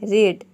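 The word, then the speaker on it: read: रेड यहां पे देखिए जब रीड को हम सेकंड फॉर्म और थर्ड फॉर्म में बोलते हैं तो ये रेड हो जाता है रेड इसको हम रेड प्रोनाउंस करते हैं नेक्स्ट यहां पे देखिए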